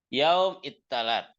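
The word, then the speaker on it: يوم التلات: Yaum ittalat. Yaum ittalat. Ittalat. Sa jadi ta.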